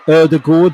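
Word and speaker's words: Ødegaard: dropped today really good deep dive into martin erdegord yes that's how you say it we discussed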